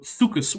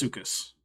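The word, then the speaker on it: suchus: Greek term for crocodile in Greek derived words C should be pronounced you don't have to aspirate it if that's not your thing I'm not going to be that picky but do not put CH in there that is an ative sound that does not belong in those words if you're not sure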